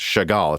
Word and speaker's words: Chagall: chagall is expected or i guess it's actually pronounced chagall it's a french word is expected to launch by november 2021.